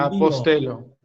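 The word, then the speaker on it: ἀποστέλλω: Ego ¿La apostelo. doble lambda se pronuncia de alguna manera especial? No. ¿O se, Es una L. como L directamente? Sí.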